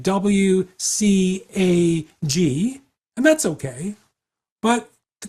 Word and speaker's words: WCAG: So they're pronouncing the letter W, but then taking the CAG and making it into a little word, CAG.